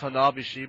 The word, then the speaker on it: Hanabishi: By the way, it's pronounced Hanabishi, but okay.